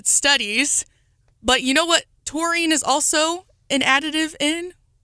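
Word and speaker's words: taurine: to them okay so the amino acid called torine or tarine I looked up the pronouncer and I saw both so I'm going with torine it is found in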